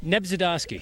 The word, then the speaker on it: Nebzydoski: Nebzydoski. Nebzydoski.